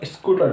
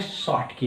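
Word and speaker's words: Schottky: हमारे ज़माने में स्कूटर होता है, आपके ज़माने में स्कूटी है नहीं, तो इसको लोग बोलते हैं, सही प्रोनाउंसिएशन है शॉर्टकी इफेक्ट, हम बोलते हैं स्कूटी इफेक्ट।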